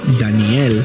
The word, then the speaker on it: Daniel: Daniel fue un personaje bíblico conocido por su sabiduría y su capacidad para interpretar sueños y visiones. Su nombre en hebreo, que se pronuncia igual al español, Daniel, significa Dios es mi